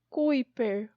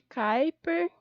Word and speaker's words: Kuiper: e cratera eu tenho cinturão de Kuiper ou de Kuiper dependendo de como você pronuncia ele tá bem longe